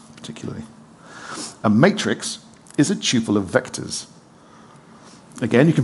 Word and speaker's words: tuple: pronounce it couple to run with subtle I pronounce it's tuple to rhyme with tuple like quadruple I'm very